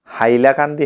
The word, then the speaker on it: হাইলাকান্দি: ঠিক আছে, তো এখানের এই অঞ্চলের মানুষেরা তালিব্য শকে হ উচ্চারণ করে, তো সাইলাকান্দি থেকে তারপর ধীরে ধীরে হাইলাকান্দি হয়েছে।